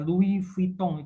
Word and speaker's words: Louis Vuitton: Kemudian juga misalnya Louis Vuitton kan tulisannya T-O-N, jadi bacanya Louis Vuitton gitu loh.